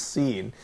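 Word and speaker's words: سين: in Arabic which is seen and as it says here in the slides seem pronounced like sin the word scene in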